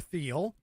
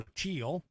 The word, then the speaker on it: Thiel: Among those considering the move, tech venture capitalist Peter Thiel, or Thiel, I guess is how it's pronounced, Google co-founder Larry Page,